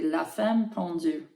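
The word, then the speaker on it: La Femme Pendue: With the French accent, it would be La Femme Pendu.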